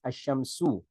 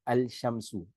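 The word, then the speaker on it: الشمس: So example ashams the sun is pronounced as ashamsu not alshamsu.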